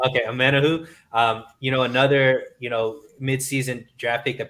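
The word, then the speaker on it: Omenihu: This year, I think is his last name pronounced Amenahu? Yeah, Omenahu. Okay, Amenahu.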